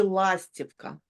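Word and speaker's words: Ластівка: Lastivka. The first one, the emphasis on the first one, lastivka.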